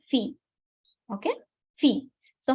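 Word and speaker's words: filles: go ahead Fe so fee you don't have to pronounce the ending consonant in English uh in French okay so it is s so you don't have to pronounce s just say fee okay fee so how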